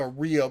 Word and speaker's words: Ryobi: But a Ryobi. I know it's pronounced Ryobi.